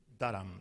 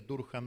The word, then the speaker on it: Durham: de la Universidad de Durham. Mis amigos anglófilos me corrigieron, yo decía Durham, me dicen Durham, y seguramente lo estoy diciendo mal, pero bueno, me corregirán después.